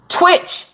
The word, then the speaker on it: Twitch: When I first ever seen his name, I said, oh, T-Witch. And somebody said, no, that's not how you say his name. It's Twitch. I said, but it's T-Witch. They said, no, it's Twitch. Small T, big W.